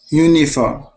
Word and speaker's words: uniform: Uniform. When we have that I sound between two consonants, we use an I sound. So not uni, but uni. Uniform.